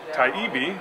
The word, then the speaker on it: Taibbi: work boat show and I'm talking with Matt taibi I said it right it was the contributing